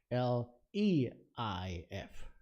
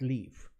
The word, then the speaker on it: Leif: My name is not Lief, like L-I-E-F. It's L-E-I-F. Leif, not leaf. Not like the leaves on, because I know people pronounce that like the leaves on the tree also.